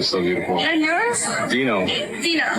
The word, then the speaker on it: Dino: Dinah. Like dino Like dinosaur? Spelled that way? Yeah, it's spelled d i n o.